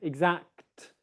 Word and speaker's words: exact: sounds that come together you've got the exact and then you've got the t sound exact exact exact now here's what you don't want to do you don't want to go into the k position and then come out of it before you make the t sound like i just did there it's not exact when you have two